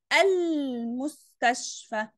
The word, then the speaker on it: المستشفى: المستشفى نطقت اللام؟ اه طبعا نطقتها، قلت ال، ما ينفعش اقول المستشفى، في حاجة اسمها المستشفى؟ لا يا مس، يبقى دي لام قمرية.